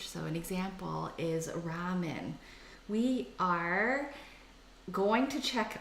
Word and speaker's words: ramen: it came wrong and the Japanese pronounce there are other elves more like are so it's ramen so there you go